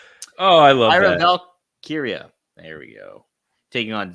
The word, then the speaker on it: Valkyria: Oh my god, I butchered that. Oh, I love Lyra that. Valkyria.